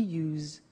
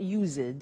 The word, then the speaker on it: used: don't have now we use used to look at the spelling s it's it's u e d and then t o but the pronunciation is not used it's us unusual used okay so